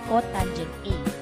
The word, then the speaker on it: cotangent: And the reciprocal of tangent A is called cot A, and this is pronounced as cotangent A.